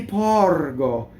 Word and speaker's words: porgo: Io ti porgo. You want to go very smoothly through all of that. Porgo, open O, rolled R, hard G.